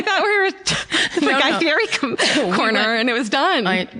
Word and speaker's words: Fieri: It's the correct pronunciation of Guy Fieri's name, which is Fieri.